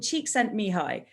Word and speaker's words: Csikszentmihalyi: He's called Csikszentmihalyi, but it is not spelled like that.